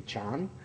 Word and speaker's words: Chan: And so in Chan Buddhism, actually I don't say it right, it should be Chan.